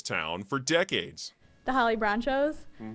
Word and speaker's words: Bronchos: I think it sounds a lot like nachos. They always say it's Bronchos, and I always have to correct them, but it's kind of funny. The H may be silent.